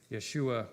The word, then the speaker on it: Yeshua: yes correct Jesus um his better more correct pronunciation would be Yeshua or Joshua and number four how many times did Israelites Army march around Jericho and we got seven we got 13.